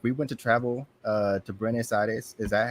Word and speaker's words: Buenos Aires: So our last question for rapid fire: if we went to travel to Buenos Aires, is that how you pronounce it? The capital, Buenos Buenos Buenos Aires.